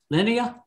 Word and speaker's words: Linnea: How do you pronounce that? Linnea? Sorry, I had it on mute. It is Linnea.